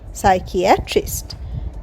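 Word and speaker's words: psychiatrist: সে ভু নাম দিল সাইকিয়াট্রিস্ট পি এস ওয়াই সি এইচ আই এ টি আর আই এসটি সাইকিয়াট্রিস্ট এখানেও P silent সাইকিয়াট্রিস্ট মানে মনোরোগ বিশেষজ্ঞ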